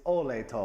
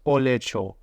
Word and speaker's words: olej to: A lot of words end in J. Have you noticed? I do. It's like a silent J. I'd say Olej? olej, but it's olecho.